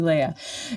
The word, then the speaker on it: Léah: I just want to let you know I do pronounce my name Léah. Léah, thank you. Thank you. Okay, everybody mispronounces it, so don't worry. Yeah, I love it. No, thank you. Thank you, Léah.